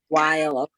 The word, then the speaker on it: Weil: Weil.